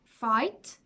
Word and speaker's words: fight: end of them and they are silent GH our daughter slaughter no t straight wait eight fight height at the end of